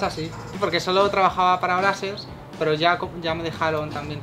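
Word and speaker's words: Brazzers: Se pronuncia Brasers, es que la gente latinoamericana dice Brasers, y me dicen que no sé decirlo yo. Ah, vale. Que no sé pronunciarlo, pero es que todos los ingleses y americanos dicen Brasers.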